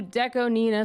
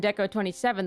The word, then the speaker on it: DECO*27: sorry I've received breaking news that a new Deco Nina song has come out by the way if you remember my last video about Deco Nina I called him deco27 the whole time I eventually learned that that's